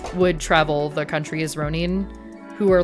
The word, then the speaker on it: Ronin: Um, so it's pronounced it's it's Ronin.